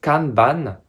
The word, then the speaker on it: kanban: sur vos projets alors tout d'abord canban qu'on prononce canban en japonais désigne une étiquette ou une fiche